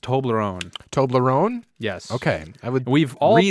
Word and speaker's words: Toblerone: And I believe it's pronounced Toblerone.